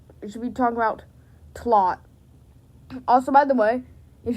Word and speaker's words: TLOT: it as TLOT, and we just pronounce it as a word, so it sounds like TLOT, like plot, but with a T.